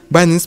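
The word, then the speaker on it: Binance: Байнанс произносится так правильно.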